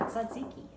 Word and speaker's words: tzatziki: um then you had zaziki and it's spelled with a T it's TZ a oh and I almost